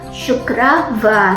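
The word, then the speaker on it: शुक्रवार: dalam bahasa Hindi itu sykravar sukravar SH di sini dibaca she ya guys Bukan sa Sabtu dalam bahasa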